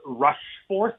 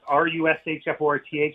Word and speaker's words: Rushforth: It is actually pronounced Rushforth, Rushforth, Rushforth.